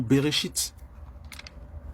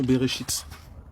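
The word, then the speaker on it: בראשית: C'est comme ça que ça se prononce en hébreu. Le nom Genèse, c'est le nom Bereshit. C'est le nom Bereshit. Voilà. C'est ça, Bereshit.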